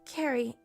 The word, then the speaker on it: Carrie: It's pronounced Carrie, like a K.